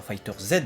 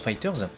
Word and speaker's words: FighterZ: vidéo Dragon Ball Fighters, et non pas Fighter Z, parce que Fighters en japonais, donc on se doute que ça se prononce Fighters, même si évidemment il y a la typologie avec le Z géant qui fait qu'on peut se poser la question.